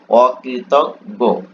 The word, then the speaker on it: অকৃতজ্ঞ: তারপর দেখো অকৃতজ্ঞ রাইট অকৃতজ্ঞ অরিকারে কৃত গারে গ অকৃত গ রাইট অকৃত গ এটা কিন্তু তোমরা এইযে দেখ এখানে কিন্তু আবার ই আছে।